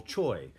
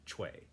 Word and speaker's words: Choi: we knew any better general choi hong he i understand the actual korean pronunciation is something more akin to chway um at any rate